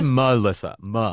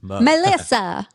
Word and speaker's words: Melissa: I say Melissa. M-A-H. Melissa. Melissa.